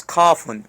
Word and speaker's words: كاف: Remember to pronounce Kafun with letter K, not letter Q.